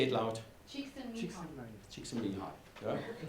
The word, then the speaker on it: Csikszentmihalyi: And it's a very, I don't pronounce the name because, can you say it loud? Csikszentmihalyi.